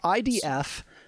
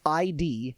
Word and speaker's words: id: I often hear people pronounce it uh pronounce ID as ID, but that is not correct. It's ID and rhymes with did.